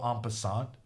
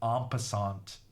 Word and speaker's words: en passant: This T is silent, someone said. En passant. En passant. Un vin. Un bon vin blanc. Un bon vin blanc. En passant. The irony is that I'm getting it right.